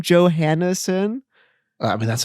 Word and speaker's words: Johansson: in your last name johanneson i mean that's how i've always heard it's pronounced i think but it's definitely not a yo it's a joe for sure well that's how yo